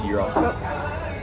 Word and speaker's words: gyros: It's spelt gyros, but it's gyros.